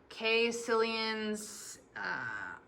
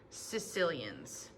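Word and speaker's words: caecilians: up it is not k cilians i've heard a lot of different pronunciations but it is c that ae makes just an e sound sicilians all of today's amphibians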